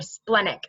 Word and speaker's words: splenic: Now, the next one is the splenic, or splenic actually is how it's pronounced, but I like to say splenic because